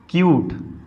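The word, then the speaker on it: cute: ऊ की मात्रा, तो क्या हो जाएगा ये, क्यूट। क्या हो जाएगा, ई लगने से इसका रियल प्रोनाउंसिएशन हो जाएगा।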